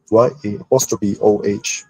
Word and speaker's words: Yao: His name is pronounced Yao, but to write in another way is to spell it as Y-A-O-H, still read Yao.